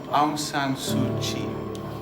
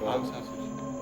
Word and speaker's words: Aung San Suu Kyi: Aung San Suu Kyi. Aung San Suu Kyi? Yep, you've got it. Not a problem. No. Aung San Suu Kyi.